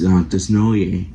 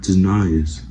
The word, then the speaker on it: Desnoyer: and his last name is what people pronounce is wrong. It's Desnoyer, not Desnoyers.